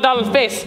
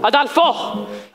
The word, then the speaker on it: Adolfo: No, not Adolphus. Adolfo.